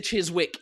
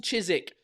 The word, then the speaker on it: Chiswick: Ça se prononce Chiswick. Il faut dire cheese, genre, on dirait qu'on vomit Chiswick.